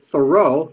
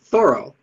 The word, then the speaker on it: Thoreau: superstar henry david thoreau we usually pronounce it thoreau but he said thorough the best known drawing